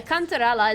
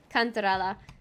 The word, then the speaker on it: cantarella: cards they didn't count so cantarella is actually italian and i'm pronoun pronouncing it correctly cantarella if it comes to